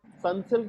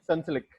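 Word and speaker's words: Sunsilk: spellings so for example sun silk is pronounced like sansalik in pakistan so you need to add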